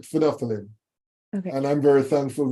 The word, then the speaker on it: phenolphthalein: phenolphthalein yes I can I appreciate you might have some difficulty pronouncing that but we call it phenolphthalein okay and I'm very